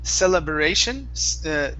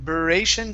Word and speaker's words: celebration: here all right so here instead of saying celebration beration so it's celebrate so a quick br sound celebration celebration uh-huh one more time celebration good that's it that's better so before you were saying celebration so adding a vowel sound that last time